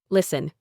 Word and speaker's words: listen: Silent T in certain common words. Listen. You only hear listen.